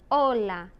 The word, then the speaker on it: hola: gota's heart soft Ace the H is completely silent the only time it